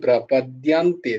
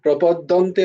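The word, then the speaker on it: প্রপদ্যন্তে: মামেবা ইয়ে মামেবা ইয়ে প্রপান্তে প্রপ প্রপদন্তে তে প্রাপাদ্যান্তে দিয়া প্রপাদ্যান্তে মামে প্রাপদান্তে দিয়া প্রপান প্রপদন্তে নয় প্রপদন্তে বলবে না কিন্তু প্রপান্তে সব জায়গায়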